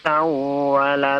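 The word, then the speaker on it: سوّل: Min ba'di ma tabayyana lahumul huda syaitanu sawwala lahum. Sawwala, jangan dipanjangkan, ya, tidak ada guna.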